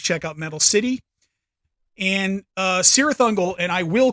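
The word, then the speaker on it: Cirith Ungol: But obviously you can call them Kirathungal. I don't mean to copy my friend Dario, but it is one of those names that people get a little picky about how you say it. But anyway, I call them Sirathungal.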